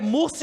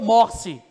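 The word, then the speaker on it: Morsi: e entra esse murce a pronúncia vocês podem ouvir é murce ou morce tanto faz tá pronto então mur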